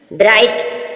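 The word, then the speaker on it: bright: फ ऐसे ला ला ब्राइट ब्राइट means चमकीला जी साइलेंट है ब्राइट ब्राइट मींस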